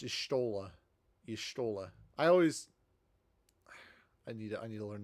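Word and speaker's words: Y'shtola: Yestola.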